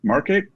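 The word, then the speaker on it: Markate: pretty cool one i tried last year called market it's spelled strangely m-a-r-k-a-t-e and it's uh kind of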